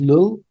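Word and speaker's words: Llull: So this is I don't know how you pronounce his name but is it lull? Oh yeah Raymon lull medieval theologian.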